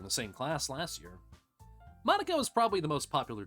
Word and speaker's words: Monika: monica monica monica monica i was trying to say in the japanese way i don't know monika it's a normal name no no you you say it like monica yeah uh okay this